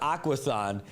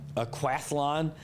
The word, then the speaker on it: Aquathlon: Uh it's not Aquathon, it's an Aqualon. Um Aquathlon.